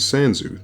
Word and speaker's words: Sans: In this hallway, Sans will judge you based on your actions throughout the game, and Sans' name is pronounced in Japanese as Sanzu, the same as the mythological Sanzu River from Buddhist lore, which